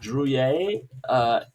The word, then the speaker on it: Druillet: How is it pronounced? Druillet.